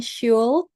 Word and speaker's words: should: Terus ini bukan should, tapi should. Jadi, L-nya enggak dibaca.